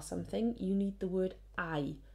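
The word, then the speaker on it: hay: you need the word i i know that's a strange pronunciation for us looking at h a y but that's i there is all there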